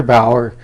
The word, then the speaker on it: Bauer: His name starts with a T, rhymes with Rever. Yeah. His last name starts with a B and rhymes with Hour. Yeah. He's Trevor Bauer.